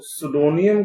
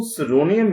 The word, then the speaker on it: pseudonym: जो गाल्सवर्दी के नॉवेल्स हैं उनमें से कुछ जो नॉवेल्स हैं, ज्यादातर जो नॉवेल्स हैं early novels, were written under, उनको सुडोनियम के द्वारा लिखा गया या सुडोनियम के साथ में लिखा गया।